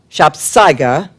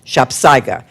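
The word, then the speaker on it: sapsago: It's spelled S A P S A G O. Two words, but it is pronounced shopsa.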